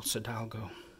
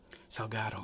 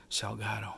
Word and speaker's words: Salgado: this photographer was dead Sebastian sidalgo Salgado excuse me I mispronounced this last name Sebastian Salgado but anyways he's a